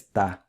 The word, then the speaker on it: estar: estar and just says ta. The last thing I want to point out is that the R at the end of infinitive verbs like está is usually silent. Most Brazilians will not pronounce it.